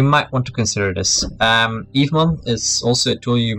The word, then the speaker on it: Evemon: Evemon is also a tool you might want to Google. It's just written as I just pronounced, it's like Eve and then M-O-N.